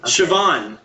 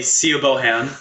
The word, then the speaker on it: Siobhan: Siobhan. I think that's how you pronounce that. It's the Celtic. Yeah. Idiots would say Sia Bohan. I'm pretty sure that's Siobhan.